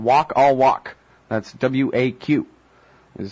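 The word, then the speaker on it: Waq al-Waq: called Big Think calm the blog is called walk all walk that's waq this is how that walk is spelt I really appreciate your time on the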